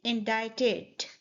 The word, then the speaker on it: indicted: We said indicted. The D sound in the end is more like a T sound.